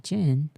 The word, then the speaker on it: Jin: I've always said I Jin. I don't understand what you guys mean by hard G. I don't get it. I don't I don't know what that means. Why they do that? It's literally the drink gin.